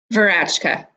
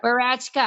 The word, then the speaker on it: Woratschka: Who knew that your W was pronounced as a V? So it's Rachel Woratschka. Woratschka. Yeah. Woratschka.